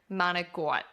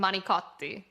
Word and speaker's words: manicotti: And this is another one where if you say it like manigot in Italy, it's not the Italian word. They just won't understand you.